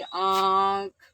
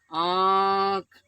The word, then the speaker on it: आँख: ऊपर हम किसका प्रयोग, आँख का उच्चारण करिए, आँख, आँख। तो देखिए, जो हमारी हवा, जो वायु निकल रही है अंदर से, वो नाक और मुख दोनों के दबाव से बाहर निकल रही है।